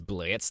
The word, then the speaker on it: Blitzo: My name is Blitz, though, is silent, and I was hired to come here, and I was here to, you know, kill somebody.